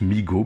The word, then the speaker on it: Mego: et en explique que la marque migaud se prononcent meego bien sûr m e j'ai beau